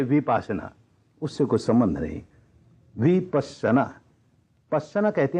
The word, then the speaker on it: विपस्सना: बिल्कुल नई लगती है विपश्यना यह इसका संस्कृत उच्चारण है विपस्सना यह पाली उच्चारण है लेकिन मैं देखता हूं जगह जगह विपासना विपासना यह क्योंकि उपासना एक